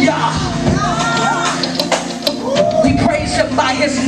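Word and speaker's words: Jah: ah H but the in the Hebrew the J is silent is pronounced with a y yah we praise him by his name yah yah the warrior that rise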